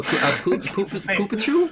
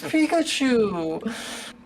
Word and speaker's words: Pikachu: Oh, Poopachu? Poopachu? No, Mom, that's not how it's pronounced. It's Pikachu.